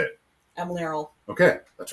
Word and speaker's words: Emlearal: I've been working on this for 3 years, and I'm very certain I'm pronouncing it wrong. How do you say it? Emlearal.